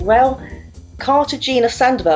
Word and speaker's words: Rael Cartagena Sandoval: Today, it is my absolute pleasure to be speaking with Rael Cartagena Sandoval. Have I pronounced that right, Rael?